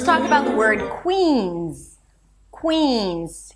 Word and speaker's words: Queens: Here we have a C- sound and a W. Qu. And then we shift to a high E as in C. Que. It's not quins Quins, but qu. So, it needs to be a little longer than what you're used to probably.